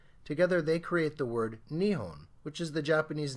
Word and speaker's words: Nihon: Now, the first kanji here is pronounced nichi, and the second kanji is pronounced hon. Together they create the word Nihon, which is the Japanese name of their country, Japan.